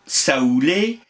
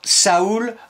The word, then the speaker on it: saoul: dans son Dictionnaire universel écrit saoul on prononce sous et la plupart écrivent S ou sous visiblement l'envie de l'écrire